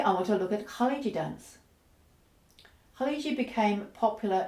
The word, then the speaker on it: khaleegi: the name Ki uh you can also spell it with a J uh the J is actually the standard transliteration of the gym um but in Egypt the that sounds more like a g so you often see it spelled with a G and the first letter is the and that's like the sound in the back of a Lo the Scot word Lo is not as deep